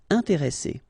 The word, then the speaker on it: intéressé: And the second thing you should remember is as we've got double S, so double consonants, so identical consonants, after this E, the sound that you should pronounce for this E is really open, so it's E. Intéressé.